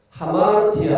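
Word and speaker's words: ἁμαρτία: 아마르티아 이거 원래는 어 아마르티아입니다. 그런데 여기 쉼표로 거꾸로 해 놓은 것은요. 이것을 발음할 때 숨을 내시면서 발음을 하라고 하는 어 그 기호입니다. 그래서 숨을 내시면서 어 이것을 발음하다 보니까 아마르티아 아 이렇게 발음이 되어지는 것입니다.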